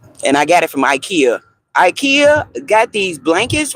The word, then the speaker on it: IKEA: Ekaya. That's how they pronounce it in Sweden. You say I? Yes. IKEA.